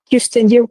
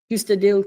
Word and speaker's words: Kyustendil: We're starting off a flying lap over here at, how do you pronounce it again, this track? Kyustendil Karting. Kyustendil Karting.